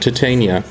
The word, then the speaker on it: Titania: a closer look at titania and yes I will use the Shakespearean way of pronouncing her name caller like the fourth